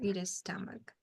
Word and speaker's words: stomach: Sure, it is stomach.